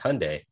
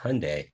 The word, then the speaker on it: Hyundai: you said something ridiculous oh is it hi Hundai or is it Hyundai because I don't know look at the spelling it's hyai it's Hyundai yeah but it's pronounced Hyundai yeah no it's pronounced Hyundai let's watch a commercial in Korean and see